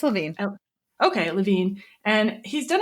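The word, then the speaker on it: Levine: I don't know how to pronounce his last name to be honest. It's Lavine.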